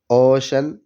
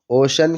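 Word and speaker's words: ocean: رہا ہے۔ اوشن سمندر، اوشن کے اندر سی کے بعد ای اے ہے، یہاں شین کا تلفظ ہو رہا ہے۔ اسی طرح اسپیشل،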